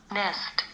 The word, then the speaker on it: nest: Nest.